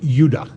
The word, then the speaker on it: Judah: The 2 southern tribes were called Benjamin and Judah. More properly pronounced Judah, because we didn't get the harder sound to the J until about 200 years ago.